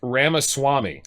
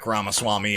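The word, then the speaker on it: Ramaswamy: maybe early 50s Echo how old is VC ramaswami oh I said it right swam is 38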